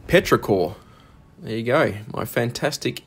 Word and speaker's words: petrichor: I think it's Perecta. I don't know if I'm pronouncing it correctly. I'm probably pronouncing it 100% incorrect. Well, I have found out since then that it's actually petrichor.